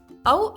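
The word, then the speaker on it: औ: Ow is pronounced as AU in the word out or cow.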